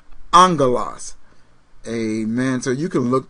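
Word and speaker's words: ἄγγελος: look up angel the word Angel is actually pronounced Angelas amen so you can look that up once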